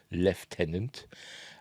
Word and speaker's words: lieutenant: Feige's most high-profile lieutenant, or as we say here, lieutenant. I don't know why. I don't know why we pronounce it lieutenant. There's an F in there, is there? There isn't even a G or a H where you can get a F.